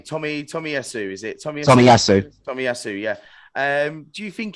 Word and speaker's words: Tomiyasu: What would you this well, I can't pronounce his name. Tomiyasu, is it? Tomiyasu.